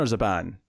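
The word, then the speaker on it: Zhaban: talking to lares and as a burn or as a ban zhabin as a ban was the pronunciation on that and lares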